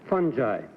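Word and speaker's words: fungi: word Fu n gii how do you pronounce it funi funi oh it's a well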